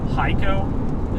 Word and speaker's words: Hico: Hico? Is that how it's pronounced?